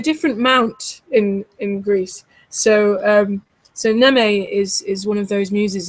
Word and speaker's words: Mneme: Well, it's called Neme, so you don't pronounce the M. So it's Mneme, Neme, Mm-hmm.